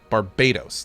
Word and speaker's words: Barbados: It's Barbados. Barbados. That's how you pronounce it. Why did I think it was pronounced Barbados?